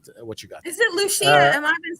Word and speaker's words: Lucia: Is it Lucia? Am I been saying it wrong all this time? It's Lucia. It's Lucia.